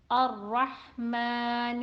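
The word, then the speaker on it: الرحمن: Ra is always read heavy when it has Fatha on it. So, Ar-Rahman Ar-Rahim.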